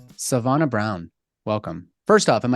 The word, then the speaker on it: Sevonna: thank you all right Savannah Brown welcome first off am I saying your